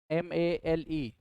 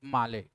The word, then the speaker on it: Male: s-t-r-a-i-n strain after Malay m-a-l-e so you can this is pronounced in the terms of Maldive Malay but in terms of General English male because of Mali had terminated